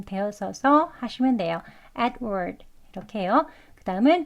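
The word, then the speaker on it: Edward: 보겠습니다 adw adw네 adw 두 소리 아주 약하게 발음 되어져서 하시면 돼요 adward 이렇게요 그다음은 드 소리까지 다 들리지 않게 adward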